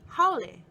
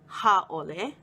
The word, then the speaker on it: Haole: the pronunciation to be Haole, not Hāʻole. Not only do the words sound very different, they are spelled very differently too. In Haole, there is no kahako over the A, there is no okina.